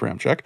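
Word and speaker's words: Ramczyk: gleck also with the saints signing ram check pronounced ram check how does this affect extending o'neill pronounced oh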